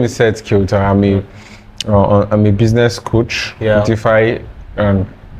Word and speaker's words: Kyauta: So how do you pronounce that one? Okay, my name is Seth Kyauta. Seth Kyauta.